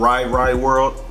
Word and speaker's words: Ry Ry World: only mariah the scientist this album is called right right world but that's how it's pronounced i'll have no idea what i did